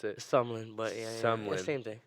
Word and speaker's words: SMLN: Is that how you pronounce it? Sumlin, but yeah, SMLN.